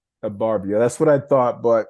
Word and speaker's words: Ebarvia: Thank you for asking, because it's been mispronounced many times. It's Ebarvia. Ebarvia.